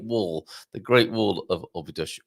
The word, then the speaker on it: Óbidos: Óbidos is how the locals pronounce it. But I'll say Óbidos just so that everyone might begin to know what I'm even talking about.